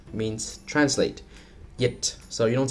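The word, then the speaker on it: dịch: All right, next we have the letter D, which is not pronounced as D, but more like the English Y sound, as in yes. For example, yit means translate, yit.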